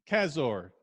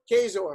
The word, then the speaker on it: Kaczor: Kaczor. C is silent. Kaczor. Kaczor. Kaczor. Yeah, that's dead. C is dead. It doesn't Yeah. exist. No C. But it's Kaczor. Okay.